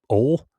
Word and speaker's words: Pierson Ohl: I guess that's how you say it. Ole. Like you're in the South saying oil.